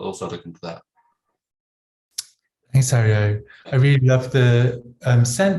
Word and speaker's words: Aryo: Yeah, you did a good job actually. Most people stumble even worse. So it's Ario, yeah.